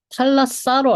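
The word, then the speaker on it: θάλασσα: 그래서 탈랐다는 그 아티카 발음이고 탈라사는 이제 다른 지방 방언입니다. 그래서 발음이 원래 T랑 S는 자주 바뀌어요. 그냥 스 발음을 강하게 하면 트가 되고 트 발음을 약하게 하면 스가 되고 이런 거라서 혀 자리가 비슷해서 그래서 이 탈라사, 탈라타 둘 다 됩니다.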